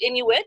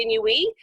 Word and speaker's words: Inuit: A lot of people pronounce it Inuit. It's actually Inuit.